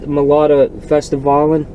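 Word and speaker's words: Melodifestivalen: the I don't know how they call it, Melodica Festivalen. Is that how it's pronounced?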